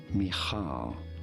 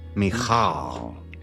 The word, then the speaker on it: Michal: Michal. Michal. Pretty straightforward. Once you know, Michal is how it is said in Hebrew.